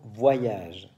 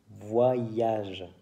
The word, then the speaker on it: voyage: de la liste des dix mots difficiles à prononcer liste non exhaustive premiers mots voyage voyage caviar est voix sillage il y a donc le son pilote on commence par dire voit le son yacht l'ia ge voyage beaucoup de mes élèves 10 voyages voyages non